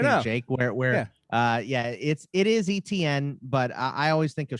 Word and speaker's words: Etienne: Jake, where it is Etienne, but I always think of shrimp etouffee, right. And well, and I already said that French, if it's the Cajun pronunciation, it's actually Etienne.